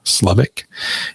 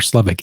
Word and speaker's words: Slevik: name into Google slovic sleev i k you spell it how it sounds and you'll find all